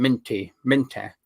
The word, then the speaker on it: Minteh: I don't know how it's Minty or Minter, or I don't know how you pronounce it right, but that's how you pronounce his name, Minter.